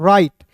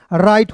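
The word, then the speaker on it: write: अब देखिए यहां पे डब्ल्यू आर आई टी ई है तो इसमें डब्ल्यू को साइलेंट करना है। डब्ल्यू को क्या करना है? साइलेंट करना है। आर आई टी ई को पढ़ना है दोस्तों। राइट।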